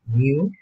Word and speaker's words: mu: This symbol, we pronounce it as mu, which represents the population mean.